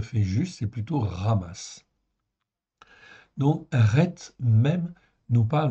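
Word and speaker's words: חמס: voyez là hein donc ça se prononce r on dit ramasse ok c'est comme un r en fait ici dans la gorge ok ramasse c'est le vrai nom on peut dire amasse oui à l'occidental mais enfin c'est pas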